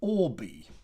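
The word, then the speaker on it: Orbea: and this is pronounced or b because the uh in the basque language that b e a there at the end is pronounced uh b like the uh uh like the bug the insect the b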